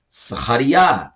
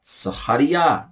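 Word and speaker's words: זכריה: Zacarias, português, Sahariá. Sahariá, no hebraico.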